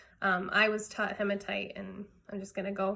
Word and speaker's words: hematite: these hematite bracelets and some people do pronounce it hematite I think because it sounds like hemoglobin I was taught hematite and I'm just gonna